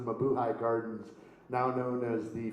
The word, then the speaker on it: Mabuhay: to the buhei whereas its properly pronounced the Mabuhay Gardens now known as